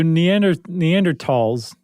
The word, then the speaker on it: Neanderthal: So Neanderthals, the correct pronunciation is tall, by the way.